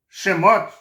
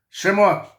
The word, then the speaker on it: Shemot: O livro de Êxodo é chamado, né, em hebraico, de Shemot, tá? Que significa nomes. É assim que se pronuncia o nome de Êxodo, tá? No hebraico, tá? Shemot, que significa nomes.